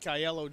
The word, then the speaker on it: Aiello: I grew up in an Italian household, so I'm going to go with Mike Aiello Jr. That's how we pronounce it.